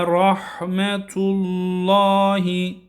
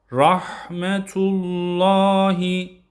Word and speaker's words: rahmetullahi: Ve rahmetullahi. Burada lafzatullah'ın lamı kalın okunuyor. Rahmetullahi yine haya dikkat ediyoruz. Rahmetullah şeklinde değil. H olarak okumuyoruz. Kalın.